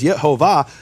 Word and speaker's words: Yehovah: So if we know that the acronym is shak which is and it rhymes with the vowels of olam which is yehovah, there's no way you can get it wrong.